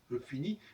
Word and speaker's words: finis: Et puis je finis, je vous remarquez, vous l'avez déjà remarqué déjà, on ne prononce pas la dernière consonne. On dit je finis, donc le S il est écrit mais il ne s'entend pas.